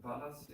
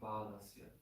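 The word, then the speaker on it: bālasya: So it's not balasya, it's balasya. This is twice as long as the one after L. Balasya.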